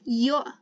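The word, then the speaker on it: ё: means he one one and its partner is yo now this is just like the letter yeah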